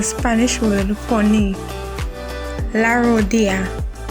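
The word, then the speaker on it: rodilla: word for me la rodia when there are two ls in a word it is pronounced as y la sangre is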